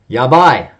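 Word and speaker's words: やばっ: It's going to sound like this. Yaba. Yaba. Right?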